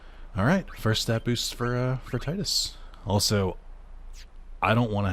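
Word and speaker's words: Tidus: I call him Titus because tide and his whole theme is water. Titus is how some people have pronounced it.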